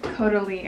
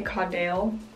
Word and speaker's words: Caudalie: That's how you pronounce it. Okay, cool. Caudalie. I would say Caudale. This is a Caudalie.